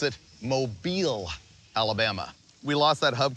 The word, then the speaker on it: Mobile: Starting in Atlanta and ending up here near I figured out how to pronounce it, Mobile, Alabama.